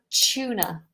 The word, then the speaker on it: tuna: Next to salmon, we have tuna. Tuna. Chew. Chew like C-H-E-W.